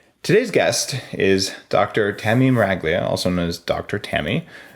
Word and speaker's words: Meraglia: It's because I married an Italian and nobody can say or spell Meraglia with a G in the middle. Wait, did I say it wrong? I always said it with a G. I know. It's Meraglia? Meraglia. With a silent G?